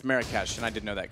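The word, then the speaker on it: Marrakesh: he's very very low I pronounced it wrong it's marash and I didn't know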